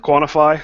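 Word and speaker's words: Qntfy: Glenn coppers Smith I'm the founder of quantify that's what those five letters when you spell it out sounds like I'm a member of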